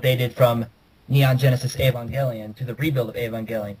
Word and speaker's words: Evangelion: Well, yes, but it's spelled word, Evangelion, and it's usually pronounced Avon and then Gelion.